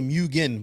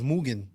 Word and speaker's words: Mugen: say it right actually it's mugen like we all say mugen but it's mugen that's all i think i call it german so it's moon so yeah don't worry